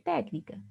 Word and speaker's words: técnica: Então, eu tenho aqui o tec, que é a sílaba mais forte, acentuada graficamente.